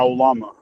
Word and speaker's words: Lama: My mic wasn't working, but uh, it's actually a Lama, but but everybody calls me Llama.